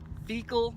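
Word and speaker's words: Vekol: Now, if you get on your computer and Google the words Veekal Valley Wash. Veekal is spelled V-E-K-O-L.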